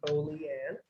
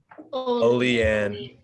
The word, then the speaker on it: Olean: in olean new york everyone say olean unmute yourself and say oh leanne oh leanne yes thank you correctly good job good job